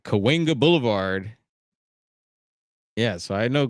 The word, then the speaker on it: Cahuenga: A lot of people, and I think we most of us local here pronounce it Cahuenga, but I've heard people pronounce it Kahunga. But it's Cahuenga.